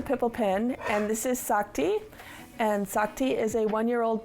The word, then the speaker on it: Sakti: It's s a k ti. Sak ti.